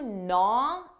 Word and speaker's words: gnaw: pronunciation for gwing that g is silent na na her comments been gwing at me what does this mean the expression is to naw at someone when something gnaws at